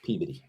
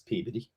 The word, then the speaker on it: Peabody: Yeah, it's pronounced Peaveody.